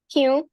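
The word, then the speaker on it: क्यों: Kyun. Kyun. Kyun. Kyun is written very differently from the way it is pronounced. It's written as kyon, but we say kyun.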